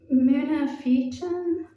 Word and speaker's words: Munafiqun: The next surah, which is about hypocrites, is pronounced munafiqun, and it describes a hypocrite saying that, they usually lie, they don't keep oaths, they're an enemy.